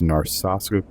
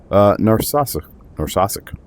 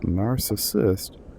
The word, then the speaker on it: Narsarsuaq: Narsarsuaq, I guess it's Narsarsuaq. Narsarsuaq? I'm going Narsarsuaq. It's not narcissist.